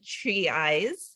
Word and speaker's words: Trezise: His name is Mason Trezise, like trees with eyes is how he just schooled me on how to say his last name.